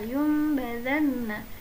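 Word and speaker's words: لينبذن: Cara membacanya, nun atau tanwin dirubah menjadi huruf mim dan bacaan mim harus ditahan selama 3 harokat. Kalla la yumbazanna.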